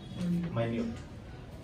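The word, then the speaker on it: minute: meaning डिमिनिटिव और एक और वर्ड होता है माइन्यूट ये जो वर्ड हमने लिखा है ना लास्ट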